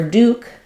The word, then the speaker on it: Duke: talking about royalty so for Duke we have a pattern of the letter e makes the letter U say U so sometimes people call